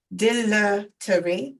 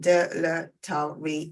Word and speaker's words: dilatory: There's two different pronunciations. If you look in the chat, dilatory, British apparently, and dilatory in US.